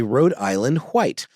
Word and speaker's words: Rhode Island White: game and and a Road Island white um Accent on the white uh if you look